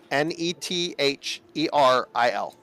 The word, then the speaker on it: Netheril: Spell ne T h e r i l. N t h e r. There may be a dangerous Hey, it's pronounced netheril.